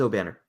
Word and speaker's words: Obanor: It's the pronunciation guide says O'Banner.